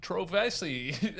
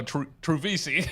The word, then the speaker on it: Trovese: I'm comedian and my guest today is Trovei. I already butchered it off the top. How do you say your last name? Travis. Oh, Trovisi. Yeah. Yeah, close enough. Close.